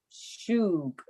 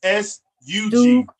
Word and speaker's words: sug: Shug. Not shoe, it's not an H, it's S-U-G. Sug.